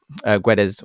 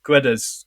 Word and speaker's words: Guedes: What did you make of the first, Guedes or Gedge, should I say? I normally say Gedge.